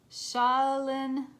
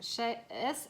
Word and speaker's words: Shaolin: got mountains stand your ground and i can't pronounce this it's shaolin master s-h-a-o-l-i-n shaolin master be graceful in movement and action